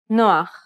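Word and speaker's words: נח: This is a guttural H, pronounced at the back of the throat.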